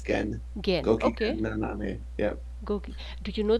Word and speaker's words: gokigennaname: Yeah, how, how would you say how his would I name? pronounce that name? I would say gokigennaname. I Okay, think it's Japanese. okay, cool.